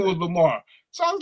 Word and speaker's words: Lamar: When they call you Lamar, they don't pronounce the last R. They be like Lamar. Lamar.